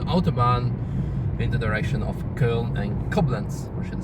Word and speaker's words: Köln: in the direction of Köln and Koblenz, or should I say Cologne in English. You should say it like full German.